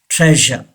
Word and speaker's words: treasure: और Britishers don't pronounce this are. Okay, Americans पढ़ते हैं इस आर को जी, लेकिन ब्रिटिशर्स इस आर को प्रोनाउंस नहीं करते. इस पॉइंट को आपने याद रखना है. कई वर्ड्स हमारे पहले भी लेसन में आ चुके हैं जिसमें आर को हमने नहीं पढ़ा है, तो वो ब्रिटिशर्स उस आर को प्रोनाउंस नहीं करते. Okay, ट्रेजर. से this word ट्रेजर. यस, प्लेजर.